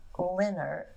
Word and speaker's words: Lehnherr: Lehnert, and it's spelled Lehnherr. These names are never spelled like you think they're going to be said, but they eventually changed